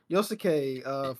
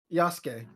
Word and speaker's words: Yasuke: Yosuke, from Yasuke. Yasuke.